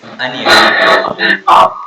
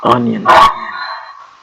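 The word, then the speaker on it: onion: यू the lesson pronunciation so the first word is अनियन नियन अनियन अ लट of people से नियन आलू को हम नियन बोल देते हैं बट इट इज अनियन अनियन okay the next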